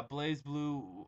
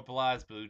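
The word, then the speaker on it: BlazBlue: the Calamity trigger uh blaze blue or Blas blue depending on how you pronounce it my friend calls it Blas blue I call it blaze blue I don't think I really much matters uh it's a good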